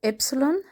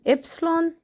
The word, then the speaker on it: Epsilon: This letter is called Epsilon, Epsilon, and the pronunciation is V, I, or O. Again, Epsilon, V, I, or O.